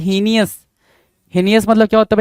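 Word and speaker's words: heinous: तो हीनियस के लिए जो वर्ड निकल कर आ रहा है एच इ आई एन ओ हीनियस की स्पेलिंग बड़ा पूछता है भाई।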